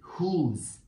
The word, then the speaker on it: who's: to remind you that these two words have silent W in them so this letter is silent who's who's very nice let's